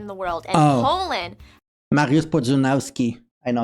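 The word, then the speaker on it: Mariusz Pudzianowski: So I know Mariusz Podzunowski. I know how to pronounce his name. Again. Mariusz Podzunowski.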